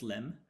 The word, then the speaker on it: lem: So the predicate is written as lem in our experiment, pronounced as lem.